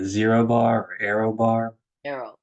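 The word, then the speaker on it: Aero: bar or Arrow bar Arrow yeah not AR yeah AE r o yeah so back on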